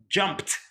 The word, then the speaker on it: jumped: So you see, you add this ed, but you read it with t, jumped. So you read it with a t, a sound, jumped.